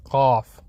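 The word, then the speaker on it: قاف: The letter how it's spelled, letter how it sounds like is Qaf. And there's not really, I don't think there's an equivalent in English. Maybe we could say cough, but then you would be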